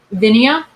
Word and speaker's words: Vinia: Vinia. It's like vine.